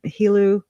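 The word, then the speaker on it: Helú: Carlos Slim, Hilu, Spanish pronunciation.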